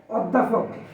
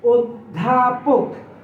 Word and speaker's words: অধ্যাপক: আমরা বলে থাকি যে অধ্যাপক, এটা শুদ্ধ উচ্চারণ হবে অধ্যাপক। অধ্যাপক, অধ্যাপক না।